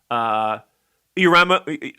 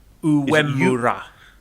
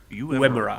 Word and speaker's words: Uemura: Urama, I can't pronounce his name. How do you pronounce it? Uemura. Uemura.